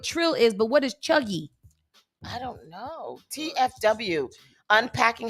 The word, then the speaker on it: cheugy: And what is, I know what trill is, but what is chuggy?